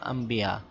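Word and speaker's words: أنبياء: আনবিয়া আনবিয়া আমরা এখানে পড়বো আম্বিয়া নুনকে মিম উচ্চারণ করবো আম্বিয়া আম্বিয়া মানে হলো নবী আম্বিয়া মানে নবী গণ নবীন জমা আম্বিয়া নবীনের জমা আম্বিয়া বা নবী এর নবী আম্বিয়া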